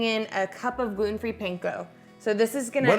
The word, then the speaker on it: panko: like a ground beef panko how you pronounce it again p-a-n-k-o panko panko panko is a binder